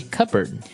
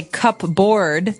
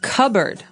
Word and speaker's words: cupboard: the silverware we usually keep them in a Cupboard okay so you might want to say cupboard because it's cup c u p b o a r d That's Not Right the word is pronounced cupboard okay so even though it may seem like